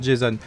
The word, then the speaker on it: Jason: Enfin argonaute, ouais, grec, qu'il est forcément, ça a forcément la même prononciation, parce que Jason, comme le Jason, le Ranger rouge, est un nom aussi américain, et comme on sait que ça se passe là-bas, ça se prononce Jason.